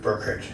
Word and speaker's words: Burkert: How do you pronounce it? Burkert. Burkert?